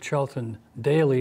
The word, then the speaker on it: Charlton Daley: We're with Charlton Daley.